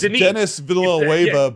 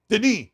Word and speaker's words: Denis Villeneuve: It's Denis Villeneuve, but it's pronounced very fancy. Denis.